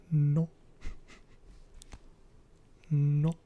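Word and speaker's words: non: No is no. No. No. It's the same, but you just pronounce it differently, and it's spelled N-O-N, but pronounced like no.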